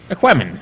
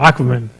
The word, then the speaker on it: Aquaman: Aquemen. It's the story about that guy, and he swims and talks to fishes. Oh, Aquaman. Oh, is that how you... my Latin training, I was just pronouncing it Aquemen.